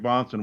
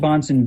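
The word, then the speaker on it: Bahnsen: baptist in 1904 well that's very odd greg bonson was an ordained minister in good standing in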